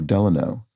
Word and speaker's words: Delano: Oh, Delano. So, Franklin Delano Roosevelt, accented on the first syllable, or California City, accented on the second.